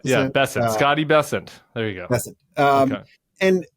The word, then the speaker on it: Bessent: of all it's it's bessent rhymes with crescent oh really yeah what did I say bessent bent not Not Bent bessent Scotty bessent there you go um